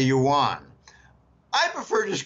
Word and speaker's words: yuan: were Chinese backgrounds and they say Jim the pronunciation is Ewan okay a lot of Americans call it the yuan I prefer just call